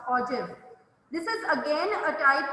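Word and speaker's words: ogive: ojib o g i v e it's not pronounced or gif it's pronounced ojib this is again a type of frequency polygon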